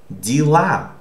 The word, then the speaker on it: дела: This A is stressed. So this Е is not Е, but it's E. Okay, so O, unstressed O, becomes A. We are talking about pronunciation, okay? While unstressed Ye becomes E, or similar to E. So this is pronounced как дела.